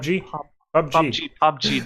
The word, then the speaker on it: PUBG: PUBG, Player Unknown Battleground. PUBG. That's how it's pronounced.